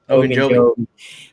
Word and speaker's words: Ogunjobi: That's why you kept hearing about Quincy's boy, and I'm going to botch his name, Ogunjobi. That's how you pronounce it. Ogunjobi.